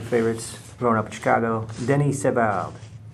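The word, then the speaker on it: Denis Savard: growing up in Chicago Denny seal Denny seal he is not Italian no go straight with French pronunciation on that here hey it's de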